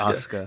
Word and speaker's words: Asuka: is it oscar yeah it's spelled asuka but it's pronounced oscar yeah see i was